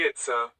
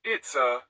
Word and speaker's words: Itza: The word Itza has a high tone on the a, followed by a glottal stop, indicated by the apostrophe.